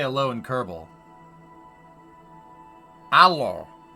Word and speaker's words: Alo: say Alo and Kerbal alo alo a l o h Alo like hello you think I'm kidding